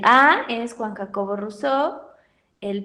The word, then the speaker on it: Rousseau: como sus demás nombres nada más pongan ruso recuerden que se escribe rousseau para que no me